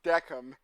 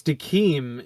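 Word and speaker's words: Decim: I listened to the English dub because I heard it was really, really good, and he was actually pronounced Deckham in the English See, it's dub. it's Dakim in the Japanese.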